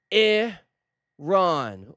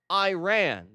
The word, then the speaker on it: Iran: It is Iron or like I said more correctly Iran actually but we know they meant it Iran. So that's how we pronounce it.